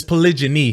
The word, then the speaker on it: polygyny: It's polygyny. Poly. Polyig. Give me a second. Google, can you tell them how to pronounce it? Polygyny, not polygamy. I get triggered when I hear people say it wrong.